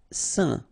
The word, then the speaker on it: saint: Saint. Okay, combination of A, I, N phonetically will give you this un pronunciation.